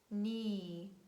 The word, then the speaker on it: knee: k is very easy we never pronounce it in the combination k and at the beginning of words and we say knock knee neat night no knowledge